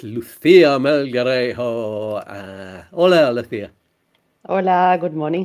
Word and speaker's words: Melgarejo: It's Lucia Melgarejo.